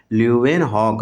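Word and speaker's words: Leeuwenhoek: देखिए लुएनहॉक नाम है इसका ल्यूवेनहॉक। अच्छे से आप प्रोनाउंसिएट करेंगे।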